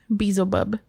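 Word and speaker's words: Beelzebub: and the element of water next one is bezel bub bezel bub b-e-e-l z-e-b-u-b yeah is that how you say it yeah bizaba bezel bub is chief of staff of hell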